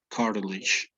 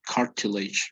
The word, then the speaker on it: cartilage: So cartilage, like a D, right? In UK or British English would be cartilage, right? It's like the pronunciation is quite different.